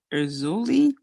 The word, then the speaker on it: Erzulie: i pronounce this right i believe it's pronounced erzulie eu excuse me e-r-z-u-l-i-e and uh brazuli is